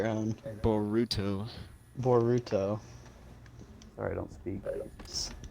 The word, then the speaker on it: Boruto: Rowan just informed me that I'm pronouncing Baruto's name wrong. It's Boruto, right, Rowan? Boruto.